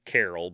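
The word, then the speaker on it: Karel: language so Carla's father Carl or Carol or however you want to pronounce it it's k-a-r-e-l so technically it's Carol but he immigrated to Canada in the 50s from Czechoslovakia so it's however they would pronounce it and he became a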